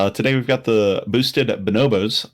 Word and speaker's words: Bonobos: Today we've got the boosted Bonobos. I believe that is a pronunciation. Could be Bonobos, but I'm actually going to Google. I already Googled it. It is Okay. Bonobos. Bonobo, because it's a monkey.